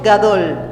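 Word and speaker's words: גדול: grandeza viene del hebreo gadol gadol dígalo conmigo gadol gadol gato sí como si fueras a decir gato pero no con t sino con d gadol Así es que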